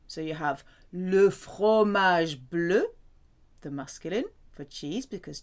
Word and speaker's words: bleu: The masculine and feminine versions of blue sound the same, but there's an extra E for feminine. Bleu, bleu. So you have le fromage bleu, the masculine for cheese because cheese is masculine.